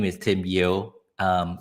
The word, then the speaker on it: Yeo: Uh my name is Tim Yeoh. Um it's pronounced like Yeoh, what's up?